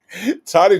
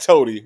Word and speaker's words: Toddy: Toddy Jackson was like, "No, no, Native, no, it's not Toady, it's Toddy."